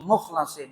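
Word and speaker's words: مُخْلَصِين: kami yang mukhlasin mukhlasin sebagian para qura para ahli al-qur'an membacanya para ahli qiraat membacanya mukhlasin sebagian lagi membaca Mukhlisin dua-duanya benar Mukhlisin berarti orang yang ikhlas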